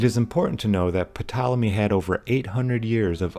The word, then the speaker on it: Ptolemy: It's Ptolemy. The P is silent, like how the P in pterodactyl or the O in possum are silent.